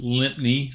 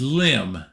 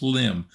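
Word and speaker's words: Lympne: this is not pronounced lipney like the Americans would pronounce it it is limb and he said he's not sure why it's spelled like that but it's pronounced limb so we will try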